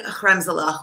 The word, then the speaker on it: kremzlach: Yeah, it's so funny actually that you mentioned that, because in English, when you transliterate Hebrew, you always do CH, like Hanukkah, right?